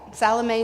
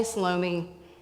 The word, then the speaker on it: Salome: Baptist yep that's right Salome salomi just depends on how you pronounce it okay so let's talk